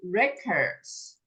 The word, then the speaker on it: record: All right, 25 Olympic records. When this word, OK，当这个字是名词的时候呢，重音放前面 records，记录 record 或 record 我听到 record 比较多这个又跟发音有关Lily 我们今天刚好没有讲这个，它可以发 or 的音，它也可以发的音，事实上我们今天有上到的音，所以 record 我是念的音。那刚刚芳芳念的呢是 or 发